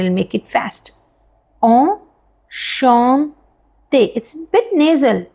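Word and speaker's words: enchanté: to meet you in French we कैन से ओ श ते repeat after me slow first then we will make it fast ओ श ते इट्स bit nasal श okay ओ श ते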